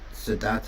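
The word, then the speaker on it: Siddhattha: Would the Buddha pronounce his name Sedata or Sedarta? Well, we don't know. It's the the the simplest answer. I mean that Sedata is the poly form. Sedartha is the Sanskrit.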